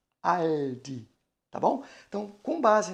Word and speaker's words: Aldi: Então, o U é realizado como U normal, porém o L, né, nós jogamos a ponta da língua para encostar nos dentes superiores, né? Fazendo este movimento para poder pronunciar o Aldi, né?